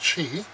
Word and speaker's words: Qi: spelled qi but I've been assured that it's pronounced cheap put your phone on top and it charges